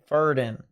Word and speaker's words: Verden: a more exaggerated hook most V's are pronounced as an F so it's ferden instead of verden so ferden got it